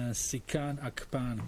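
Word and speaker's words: Nsikan Akpan: We will start with National Geographic, and sorry if I mispronounce the name, Sikan Akpan. Can you hear us? Yeah, that was actually right on the mark in terms of my name, so thank you.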